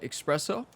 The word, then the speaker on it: espresso: of us call it espresso. So, yeah. The great debate. 134, uphill 6 feet. I remember one comment, somebody said, Ryan, it's not the great debate. Espresso is the actual pronunciation.